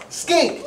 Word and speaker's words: skink: He's called a blue tongue skink. Say it. Blue tongue skink, not skank.